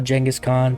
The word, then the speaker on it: Genghis Khan: Also, Genghis Khan, pronounced that way because I was told it is closer to how it would have pronounced back then. It's been anglicized into a normal pronunciation.